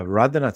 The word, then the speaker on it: Radhanath: How do you pronounce it? Radhanath Swami? Radhanath? Yeah, Radhanath Swami.